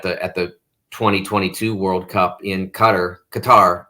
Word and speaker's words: Qatar: 2022 World Cup in Qatar. They're saying now Qatar. We've now been made aware that's the preferred pronunciation.